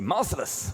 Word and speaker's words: Marcellus: Okay, so this is Marcellus one. We will fight Marcelus again. um or as the Japanese say merciless which is a much cooler name or pronunciation at least it sounds like merciless.